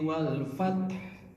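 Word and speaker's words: والفتح: Jadi kalau ada dua huruf sukun seperti itu bisa dua cara membaca dua-duanya disukun wal fath. Jadi ha sukunnya itu muncul. Wal fath atau kalau tidak tetap domah tapi bacanya sangat pelan. Wal fathu wal fat. Ini saya kelihatan kelihatan keras karena pakai mic. Pakai mic. Jadi kelihatan keras karena dibaca pelan. Awam nyangkanya tidak dibaca. Akhirnya tiru-tiru walfat kayak gitu.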